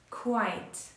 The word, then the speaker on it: quite: way look quite quet we don't pronounce e here quite I prepared six more